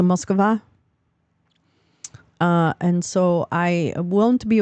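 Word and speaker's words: Москва: You don't say Moscow. That's not how you say it. It's a Moskva.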